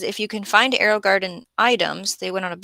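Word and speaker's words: Gardyn: much fancy this is I believe you say Garden is how you pronounce this g a r d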